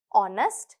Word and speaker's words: honest: இதில் எதுலேயுமே அந்த எழுதுகிற நேரம் அந்த எழுத்து இருக்கும், ஆனால் ப்ரொனவுன்ஸ் பண்ணுற நேரம், உச்சரிக்கிற நேரம் அந்த எழுத்து இருக்காது. Silent G. Sign, high, light, through. Silent H, honest, ghost, heir.